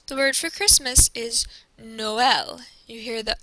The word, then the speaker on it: Noël: It is used when there are two vowels next to each other to show you that both vowels should be pronounced.